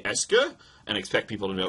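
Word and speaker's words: est-ce que: word and it's called es Esa Esa that's pronounced Esa right so it's Esa with a QE if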